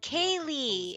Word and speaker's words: Kaye: have to mention that my name is pronounced and mind are tell K Kaye it's Kay okay please feel bad I'm